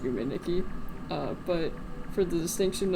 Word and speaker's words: Yume Nikki: is so big also I know that Yuki is just pronounced yum Niki uh but for the